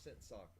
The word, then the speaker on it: Sakura: There's several of them around here, and they always call it Sakura. And I have told them on multiple occasions that it's pronounced Sakura, and they just don't believe me.